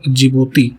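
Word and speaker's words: Djibouti: ये Somalia, Ethiopia, Eritrea और जिबूती है ना, जिसकी स्पेलिंग डी से स्टार्ट होती है।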